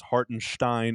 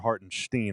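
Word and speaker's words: Hartenstein: Now that said, I still don't know if it's Hartinstein or Hartinstein. I do know it's the sh. I know that sound is in there. I just don't know if it's Stein or Steen.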